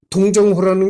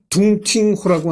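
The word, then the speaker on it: 洞庭湖: 방랑하다가 그러니까 이 두보 동정호라는 게 있나요? 어디? 동정호. 중국 발음으로는 둥팅호라고 하네요.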